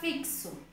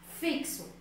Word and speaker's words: fixo: Porque eu pronuncio todas as letras. Na palavra fixo, fixo, F-I-X-O, eu tenho 4 letras.